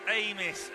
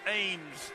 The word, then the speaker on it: Amos: um at d cena it's amos not ames just saying thank you